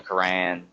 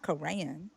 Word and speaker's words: Quran: It's The Quran, Quran. It's the Quran. Quran, I don't, the Quran, Yes, it's Quran, not Koran.